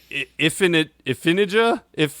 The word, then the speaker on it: Iphigenia: In Greek mythology, Iphigenia, how do you say it?